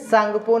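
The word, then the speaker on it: Tsangpo: सांगपो। ठीक है, ये हिंदी और इंग्लिश दोनों लिख दिए हैं, यहाँ पर टी साइलेंट रहते हैं, ध्यान रखिएगा।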